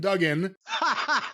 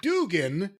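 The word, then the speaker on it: Duggan: Bill wats does commentary he pronounces Hacksaw Jim Dugen like Dugan instead of Dugen was Dugen ever aware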